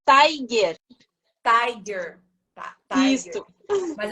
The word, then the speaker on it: Taigh: diferença tá a Tha é eu chamo Tai pronuncia seu nome direito pra gente é Tiger Tiger tá Tiger ISO Mas eu posso tá